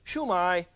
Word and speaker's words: shumai: And it's pronounced downhill. Chinese always goes downhill. Dada tada. So it's not shumai. And it's not shumi. It's shumai. Shumi. When you go into a restaurant and ask for shumai, he'll be very charmed